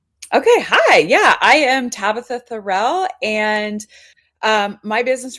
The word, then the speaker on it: Tabatha: are you good great is your name pronounced Tabitha yep okay always want to